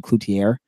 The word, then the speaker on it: Cloutier: you say it, and it's actually Cloutier. Is the way I believe he was told to pronounce it. So I've been saying is saying it wrong too. I've been saying I've been saying Cloutier all season, so who knows.